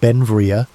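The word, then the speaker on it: Beinn Bhreagh: Pronounced Benvia, Belle became an American citizen in 1882, but his name meaning beautiful mountain in Scottish Gaelic showed his Scottish heritage.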